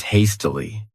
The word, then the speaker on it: hastily: The next adverb is hastily. This word has 3 syllables, and the stress is on that first syllable.